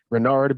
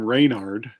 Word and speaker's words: Reynard: pronounce things i've never i've heard it rendered renard and tom was calling him reinhard renard i've never heard him called renard it's definitely pronounced bernard